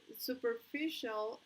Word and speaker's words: superficial: En la tercera sílaba, superficial. Yeah, superficial.